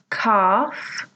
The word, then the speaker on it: calf: Well, hopefully you notice that each of these words has a letter which is silent.